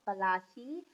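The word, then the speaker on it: Palashi: Plassey is an anglicized pronunciation of Palachi, and the place derived its name from the palash.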